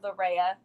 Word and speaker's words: Larea: Again, you can find it under Larea. So my name is up there, but it's like spelled like Korea, but with the L at the front.